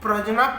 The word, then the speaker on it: प्रज्ञा: He wrote the book प्रज्ञा पारमिता सूत्र। प्रज्ञा होगा, प्रज्ञा पारमिता सूत्र। इसका स्पेलिंग प्रज्ञा लिखा जाता है इंग्लिश में, जे और एन को ज्ञा उच्चारण किया जाता है।